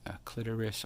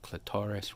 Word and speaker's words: clitoris: right we have the erect clitoris or clitoris right there are two accepted pronunciations you'll see that in